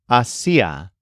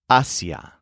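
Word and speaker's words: hacia: have an accent mark so instead of being pronounced AIA it's pronounced Asia here's an example of how you might use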